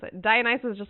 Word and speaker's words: Dionysus: Dionysus, that's how you pronounce it. Dionysus is just like, I want you to go get that bottle of wine.